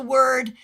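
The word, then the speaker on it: wyrd: Um, tell me, do you pronounce the word W Y R D weird or word? I say weird.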